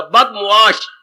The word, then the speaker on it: बदमुआश: बदमाश शब्द नहीं होता, बदमुआश, बद मैंने बुरा, मुआश मैंने व्यवहार, जिसका व्यवहार बुरा हो, जिसका आचरण बुरा। बदमाश शब्द बोलती है पर ये उच्चारण गलत है।